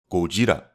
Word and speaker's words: Gojira: a Japanese actor and actually pronouncing Godzilla by his original name, Gojira.